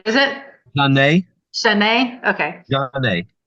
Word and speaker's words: Janae: Janae. Janae.